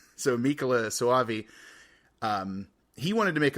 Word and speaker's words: Michele: But then whenever the director of this, Michele Soavi, I had to look up how to pronounce his first name. So Michele Soavi, he wanted to make a little more